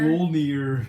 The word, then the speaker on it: Mjolnir: Mjolnir. I could not pronounce that until the movie.